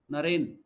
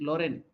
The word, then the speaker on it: Naren: So now he's telling he couldn't pronounce Naren. He used to pronounce as Loren.